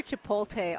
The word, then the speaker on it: Chipotle: I hear Chipotle all the time. Yeah. It's like, I understand that you're American, but you can read that the L does not come before the T.